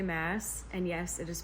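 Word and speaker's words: Maas: is the assassin's blade it's by Sarah J mass and yes it is pronounced Mass I actually have a video that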